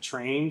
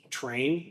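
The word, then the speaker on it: Treign: Train. Train. T R E I G N I think is how it's spelled. Train.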